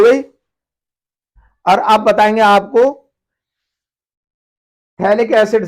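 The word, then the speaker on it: phthalic acid: पीएच इसमें silent होगा, थैलिक एसिड कहेंगे इसे, पीएच साइलेंट हो जाएगा।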